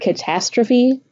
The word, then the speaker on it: catastrophe: Can you detect the schwa in the word catastrophe? The schwa occurs in the first and third syllable.